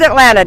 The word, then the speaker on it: Atlanta: to notice too that I did not pronounce that last T in Atlanta we don't do that it's called Atlanta down here and that's how we